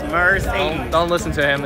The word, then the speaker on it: Mercedes: Mercedes. Mercedes. Mercedes. What? Mercedes. It is a German brand. It's Mercedes. You have to pronounce the syllables. Mercedes.